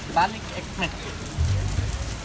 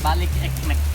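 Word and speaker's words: balık ekmek: Balik ekmek. Can you say that again? Balik ekmek. Balik ekmek.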